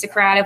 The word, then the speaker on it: Socrative: Kahoot and Socrative, I did look it up because I've heard 1.5 million ways to pronounce it. It is Socrative, like Socratic seminar.